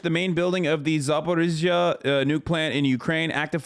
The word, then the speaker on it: Zaporizhzhia: is controlled, and the Ukrainian forces ran into Zaporizhzhia, is how you say it.